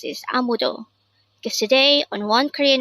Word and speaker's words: 아무도: AMUDO. This is pronounced as a three-syllable word. The first syllable is a, the second syllable is mu, and third syllable is do.